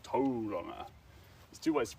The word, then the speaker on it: Tauranga: I don't know how you say it that way, but you say To-ronga. So, you roll the R.